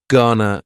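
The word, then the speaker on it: gonna: contraction just like Wana Ghana is generally pronounced with the schah GNA Ghana you going to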